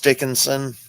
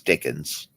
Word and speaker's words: Dickens: stories ever yeah Charles Dickinson yeah he's a good guy yeah is that how you say his name no it's Dickens Dickens I'm sorry I